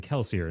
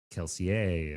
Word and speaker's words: Kelsier: So really those characters should be pronounced with like a French accent and the nar but the narrator didn't know that. And so of course everybody that's listened to the audiobooks are pronouncing it the narrator's way. So they're saying Kelsier, not Kelseier and Vin, not V.